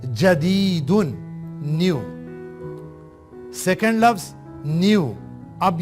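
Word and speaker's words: جديد: جیم کے اوپر فتحہ، دال کے نیچے کسرہ، یا کے اوپر سکون اور دال کے اوپر تنوین. جدیدن، نیو.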